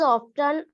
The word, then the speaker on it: often: He was often assisted by his friend Dr. John Watson. What this is called? Ma'am often. T is silent.